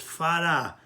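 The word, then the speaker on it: פרה: The Minhachai writes right away that the word para in this case is rafeh. It's pronounced fara with no dagesh.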